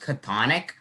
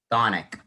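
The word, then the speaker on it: chthonic: And this word, you might think it will be pronounced catonic, but this word up here would actually be pronounced thonic. So as you can hear in that, the CH would be silent.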